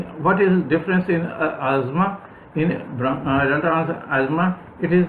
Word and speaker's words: asthma: Some people may not like me pronouncing asthma because we commonly pronounce it as asthma, but the correct pronunciation is asthma.